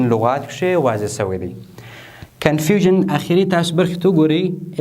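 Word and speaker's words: confusion: هر کله چې د یو لغات په پای کې اس آی او ان راغلل، هغه به تاسو په ژن باندې تلفظ کوئ.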